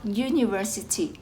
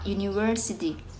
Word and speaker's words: university: เสียง เป็น สระ แต่ ตัว U ใน คำ นี้ ออก เสียง เป็น ตัว y นะ คะ ก็ คือ คำ ว่า you เพราะ ฉะนั้น เรา ถ้า